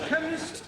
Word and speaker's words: chemist: me k e n chemist does not begin with a k K it sounds like it begins with k CH H but that